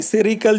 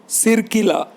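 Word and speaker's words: Sircilla: बॉक्स में दिया हुआ है सिल्चर, SIRCI, सेरिकल, जो भी इसका प्रोनाउंसिएशन है, आंध्र प्रदेश में एक जगह का नाम है, SICILLA, सिरकिला, sorry correct pronunciation is सिरकिला, in Andhra Pradesh is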